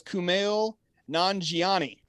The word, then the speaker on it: Kumail Nanjiani: to get his name right i tried to pronounce it out loud before we went live tonight um i believe it is kumail nanjiani perfect i think all right here we go